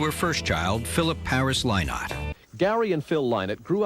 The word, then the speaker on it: Lynott: It's Lynott. Don't ever say Lynott. Phil Lynott, lad. You're so wrong.